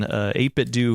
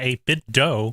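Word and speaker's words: 8BitDo: 8-Bit Do, not 8-Bit Dough.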